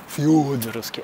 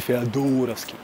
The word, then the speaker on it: Фёдоровский: ну, этот эпизод еще не загружен, но наверняка появятся комментарии о том, что правильно говорить Федоровский. Фёдоровский, а не Феодоровский.